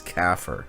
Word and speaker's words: CAFR: comprehensive annual financial reports pronunciation of that is caffer right look up caffer in Islam.